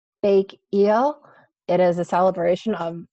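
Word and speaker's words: 백일: I think it's pronounced Bake Eel.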